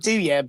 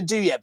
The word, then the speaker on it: Douieb: impressed it's like yeah I've always said do you and my cousin recently told me I've been saying it wrong my whole life so I've got no